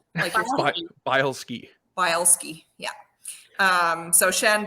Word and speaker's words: Bileski: shannon boleski um and it's spelled bile as in like and ski so bile ski bielski yeah um so